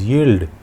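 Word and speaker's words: yield: और next English word is यील्ड। यील्ड में भी आई और ई दोनों मिलकर बड़ी ई का उच्चारण दे रहे हैं, यील्ड का हिंदी मीनिंग है पैदावार।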